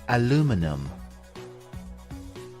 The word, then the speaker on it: aluminum: have two different pronunciations the American English pronunciation is aluminum aluminum and in British English it is called aluminium repeat after me